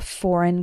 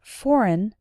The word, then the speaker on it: foreign: conversation is based in note that the letter G in the word foreign is silent you can also talk